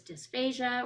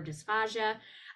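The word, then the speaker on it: dysphagia: hear your health professionals call this dysphasia or dysphasia um they're pronounced both ways and dysphasia just indicates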